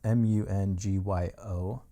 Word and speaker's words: Mungyo: This is a Mungio stick. The name of the company, I think it's pronounced Mungio. Maybe it's Mungio. It's Mungyo, and I believe it's a